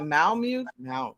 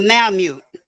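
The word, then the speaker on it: Malamute: specific dog what did you call it a Mal mute it's a Mal mute I don't even know how to spell that y'all m a l m a l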